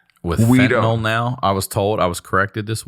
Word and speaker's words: fentanyl: I'm like, with fentanyl now, I was corrected this weekend in Appleton, Wisconsin by a doctor. I always say fentanyl. And he said it's actually fentanyl. Oh, really? Like NyQuil, not like Tylenol.